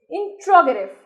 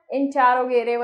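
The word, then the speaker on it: interrogative: इंट्रोगेटिव, कुछ लोग बोलते हैं इंटेरोगेटिव, इट इज the correct pronunciation of this word is इंट्रोगेटिव, यस.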